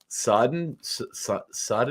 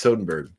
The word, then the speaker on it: Soderbergh: I've never seen Out of Sight, and I do really like Soderbergh, whose name you pronounced incorrect the entire time. What did I say? You also like Sodenberg or Sindenberg, or I can't remember.